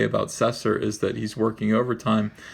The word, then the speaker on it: Cesar: I believe it's pronounced Cesar. It's C-E-S-A-R. It could be Caesar, but I think it's Cesar.